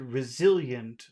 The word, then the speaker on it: resilient: Now, in that word resilient, where is the syllable with all of the power? Resilient. Zil, Zil.